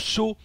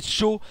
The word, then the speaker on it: Sjow: Entre ces deux merveilleux, excellents, magnifiques joueurs, Shaw ici en haut à droite, et oui, ça se prononce Shaw, voilà, S-J-O-W, Shaw.